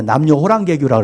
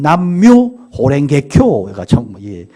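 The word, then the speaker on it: 남묘호렌게쿄: 그래서 뭐 이 남녀 호랭개교 같은 우리가 남녀 호랑개교라고 그랬는데 사실은 남묘 호랭개교가 정확한 발음이에요.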